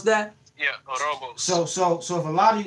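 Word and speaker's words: Ouroboros: Is that how you pronounce that? Yeah, Orobos.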